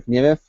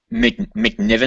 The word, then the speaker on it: McNiven: this guy's name right Stephen mcnemouth is that how you pronounce it McNiven I think McNiven yeah I could never